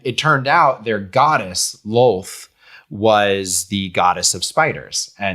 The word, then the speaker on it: Lolth: It's just LOLTH. LOLTH. Okay. Yeah, like lol. Lol.